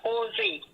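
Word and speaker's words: José: Anything in Spanish that have a J, it's pronounced as H. So the guy name is Jose.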